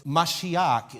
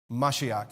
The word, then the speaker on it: Mashiach: But if he had spoken Hebrew, it's Mashiach is how you say Messiah in Hebrew. Mashiach.